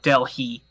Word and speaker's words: Delhi: And for the record, that's pronounced Delhi, not Delhi. It's pronounced Cats Delhi. is delicatessen.